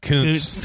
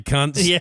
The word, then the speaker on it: Kuntz: It's pronounced Kuntz. Kuntz. Rusty, my bad. Rusty Kuntz, baseball player. It's Kuntz, fellas.